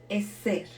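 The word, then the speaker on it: עזר: que Dios quiere decir hay una palabra que se escribe e Z e r y es es ser es ser en hebreo está escrita aproximada unas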